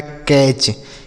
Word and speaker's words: catch: की मात्रा हो गया, टी से TCH को पढ़ते हैं च, ये लिखा है कैच।